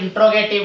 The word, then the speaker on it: interrogative: तो आगे हम चलेंगे बच्चों किसमें, इंटरोगेटिव, INTERROGATIVE। बच्चों कई बार बच्चे क्या होते हैं इंट्रोगेटिव बोलते हैं।